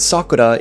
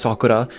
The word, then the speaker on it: sakura: The Japanese word sakura is not pronounced sakura, it's pronounced with like a different R sound that the Spanish rolled R that we all use